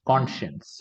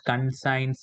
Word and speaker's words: conscience: conscious all right conscience conscience right people have a habit of saying it as gun signs Etc conscience right you are related